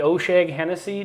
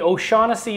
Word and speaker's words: O'Shaughnessy: bourbon now, but this is actually from the O'Shag Hennessy Distillery. Is that how it's pronounced? If you know, you know. Some people will get that joke. Okay. No, actually, to the O'Shaughnessy Distillery.